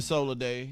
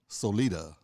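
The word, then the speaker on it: Sólida: and we still say what I'm still saying Sol day it's come on pronounce itated Solita the sophisticated tequila all right I like that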